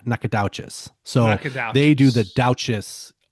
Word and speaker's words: Nacogdoches: um how they're written, you would think you would pronounce them similarly. Yeah. You don't. So they're not even close. Nakat and Nakadas or uh Nakad. Yeah. Nakades.